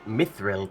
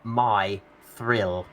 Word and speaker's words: mithril: Rather than saying it as one word, mithril, they sort of broke it into two parts and called it my thrill.